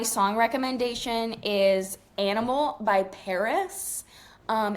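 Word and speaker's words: PVRIS: She spells it P V R I S, but it's pronounced Paris.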